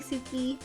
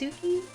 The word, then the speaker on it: Tsuki: I mean, when you say it out loud, the T is like, it's Suki. The T is like kind of there and kind of soft.